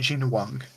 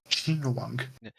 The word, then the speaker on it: Jing Yuan: About these guys, no, except the name of this character is pronounced Jing Yuan. Jing Yuan.